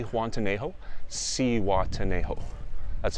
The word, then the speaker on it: Zihuatanejo: so i arrived here at z juan tanejo si watanejo that's how you pronounce it it's in mexico it's right by